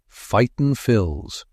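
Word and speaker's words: Fightin Phils: Fight and Phils," he said proudly, pronouncing it like one word. "Fighton Phils."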